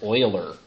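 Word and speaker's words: Euler: is German that is Oiler pronounced just like a Houston Oiler could be you never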